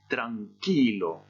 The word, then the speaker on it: tranquilo: Par exemple, si je lis le mot qui signifie tranquille, ça va donner tranquilo. Et j'insiste sur la prononciation de cette syllabe-là, tranquilo.